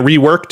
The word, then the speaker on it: Reworkd: Just keep in mind, reworked is spelled REWORKD with no E between the K and the D there.